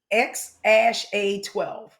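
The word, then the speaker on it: X Æ A-12: And the name is actually pronounced X ash A12.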